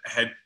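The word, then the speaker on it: เห็ด: So in Thailand, mushrooms are called het. You might see that spelled with a T or a D, but het.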